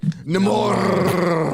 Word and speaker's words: Namor: Gary, you're pronouncing it wrong. I'm offended. Oh, sorry. Namor. Okay. It's like Mordor.